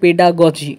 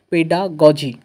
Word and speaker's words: pedagogy: সেই 150 নাম্বার পরীক্ষার মধ্যে তোমরা দেখো স্ক্রিনে দেখতে পাচ্ছ চাইল্ড ডেভেলপমেন্ট এন্ড পেডাগজি এটা পেডাগজি অনেকে গগি বলে একচুয়াল প্রোনাউন্সিয়েশন গগি নয় পেডাগজি ঠিক আছে এখান থেকে 30 নাম্বার থাকবে ল্যাঙ্গুয়েজ